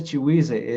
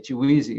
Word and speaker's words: Chiguisi: Este eh ese ese Huise, el que dice Huise, se pronuncia Chiguise. Eh se refiere a Villa Alta, que en zapoteco se le decimos eh Chiguisi o la Chiguisi.